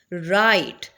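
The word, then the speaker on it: right: से स्टार्ट करें knife राइट राइट के अंदर किस चीज को हम साइलेंट कर रहे हैं जी को साइलेंट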